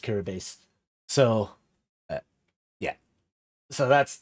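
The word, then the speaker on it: Kiribati: That is Kiraabase. Um, Kiri Kiri, like you spell it Kiri Bati, but it's pronounced Kirabase.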